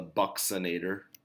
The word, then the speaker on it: buccinator: a small muscle embedded in our cheek and pronunciation is interesting it's the buccinator the buccinator is a small muscle and it